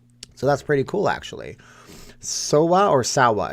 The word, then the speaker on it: Sawa: a vegas-born company so that's pretty cool actually sowa or salwa it's spelled s-a-w-a sawa or sawasushi steven have you tried any